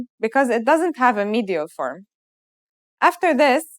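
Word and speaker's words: حاء: our first letter H this letter sounds just like the English H and it should be very easy to pronounce try it let's write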